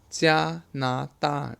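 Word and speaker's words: 加拿大: Imagine if you pronounce Canada with a J. 加拿大.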